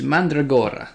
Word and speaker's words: Mandragora: It is Mandragora, that's it. But yeah, if we get his name wrong once or twice tonight, I would not be surprised.